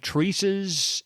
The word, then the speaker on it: Theresa: It is Theresa. Okay, so the H is silent, basically.